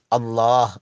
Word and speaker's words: الله: அல்லாஹ் என்ற பெயருடைய இறுதியில் ஆ என்ற எழுத்து இருக்கிறது. அந்த எழுத்து தெளிவாக மொழியப்பட வேண்டும், அல்லாஹ் என்று கூறப்பட வேண்டும்.